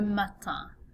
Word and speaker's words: matin: Okay, so notice another nasal vowel sound at the end of this word, le matin.